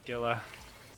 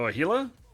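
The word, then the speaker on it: Gila: try that with a Gilla oh hila is that how to say it yeah hila like hila monster G yeah I want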